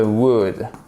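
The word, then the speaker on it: would: c'est la contraction de Wood et on ne prononce pas le D i wood ailleurs anyone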